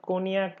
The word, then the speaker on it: cognac: The first of all, I should mention that cognac is been written as cognac. It's basically pronounced as cognac.